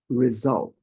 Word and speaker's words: result: a bit tricky because in American is pronounced slightly differently but in in in British result result so again this is a good example of how and why do we need to use the full word pronounce the word three times result resolve resolve and then focus on the the part where you have that sound Z Z Z AL here you go that's your sound the sound number two